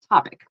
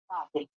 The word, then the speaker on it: topic: for me opic yeah I heard like toe it should be more like topic topic can you repeat that topic topic yeah so for those that are watching it's kind of more of an a sound so topic next I